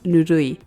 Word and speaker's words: nurui: Here, he calls Kaiser his favorite insult, tepid, or in Japanese, nurui, but he just pronounces it like nuri.